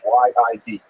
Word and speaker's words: Yid: Yid means Jew, so that's a Lithuanian pronunciation. Y-I-D, Yid.